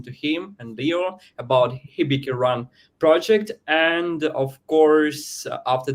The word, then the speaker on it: HibikiRun: They are co-founders of the project HibikiRun. Am I right? Am I pronouncing it That's right?